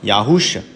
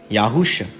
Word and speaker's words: Yahusha: It's pronounced Yahusha. In English, Yahusha.